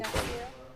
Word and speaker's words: Ignacio: Ignacio.